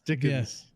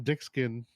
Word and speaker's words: Dickens: man what's his name they always get his name wrong uh tickets and Dickens yeah Dickens it's Dickens yeah did they call him dick skin dickskin that's what it is yeah yeah he's uh